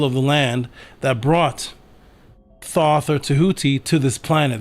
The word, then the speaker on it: Thoth: There is your origin writingwise of what people are calling Thoth today properly pronounced uh Tahuti again 2400 BC these